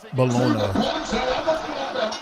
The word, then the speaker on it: Bologna: And it's pronounced Bologona.